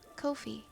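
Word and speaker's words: Ko-fi: It rhymes with no fee. Kofi.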